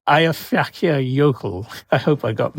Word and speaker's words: Eyjafjallajökull: can you pronounce the name of that volcano? I think it's Eyjafjallajökull.